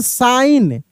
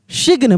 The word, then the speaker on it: sign: साइन, साइन। यहाँ पे जी का उच्चारण नहीं हो रहा है, साइन। सिग्न, बहुत लोग सिग्न पढ़ देते हैं, सिग्न नहीं पढ़ते, साइन, ठीक ना, साइन।